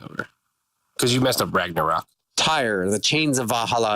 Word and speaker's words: Ragnarok: man for more precisely the rag or not oh now that I can get find that you've butchered that is the rock I know thank you Ragnarok Ragnarok Fraggle rocks are all